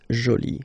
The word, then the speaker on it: jolie: you can see that you put this uh but then you don't pronounce it okay so it's Jolie so basically the two adjectives masculine Jolie and feminine Jolie are pronounced the same way and then we get